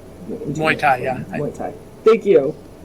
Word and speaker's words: Muay: Is it Muai? It's not. It's not. Muay.